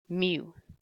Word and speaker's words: mu: that would be parameter U or sorry mu it's a Greek letter how you pronounce it is mu if your average or